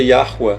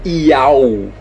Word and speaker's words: Yahweh: A pronúncia disso é Yahweh, não é Iau. Não existe Iau aqui.